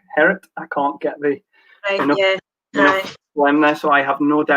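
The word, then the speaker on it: Gerrit: good dutch friend called we all call him garrett but i know it's actually herod i can't get thee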